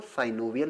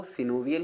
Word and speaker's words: synovial: कुछ लोग सिनोवियल joint को साइनोवियल जॉइंट भी पढ़ते हैं। वैसे जो करेक्ट प्रोनाउंसिएशन है दोस्तों वो सिनोवियल ही है। लेकिन अगर आप साइनोवियल पढ़ लेते हैं तो इसमें आपको कोई प्रॉब्लम नहीं होने वाली है। दोनों ही एक्सेप्टेबल है।